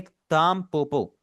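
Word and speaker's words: タンポポ: यहां पर लिखा हुआ तो एन है लेकिन मैं इसे पढ़ रहा हूं ताम पोपो एम की आवाज आ रही है।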